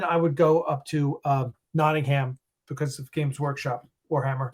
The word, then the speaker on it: Nottingham: It's pronounced Nottingham, though not Nottingham. Just like Nottingham.